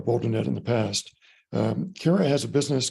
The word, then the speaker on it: Kara: on May 18th uh Cara and so it's pronounced care uh because she cares right she came to us